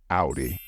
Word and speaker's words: Audi: either or or however since this is a German word we adopted the way it's pronounced in German so the correct way to say it is Audi and and the Audi it's more practical he's